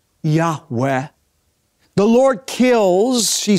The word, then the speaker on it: Yahweh: of Israel whom submitted scholars believe is pronounced a breathy reverent Yahweh the Lord kills she